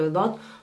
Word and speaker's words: ض: Why? Because in fact, you are blocking the air from your throat.